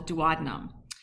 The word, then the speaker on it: duodenum: So the three portions are the duodenum which is the ... shortest portion, and I've also heard it ... pronounce duodenum- but that always makes me think ... of Batman and Robin for some reason- notice the ...